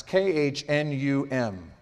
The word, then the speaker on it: Khnum: For instance, these are difficult to pronounce, K-H-N-U-M.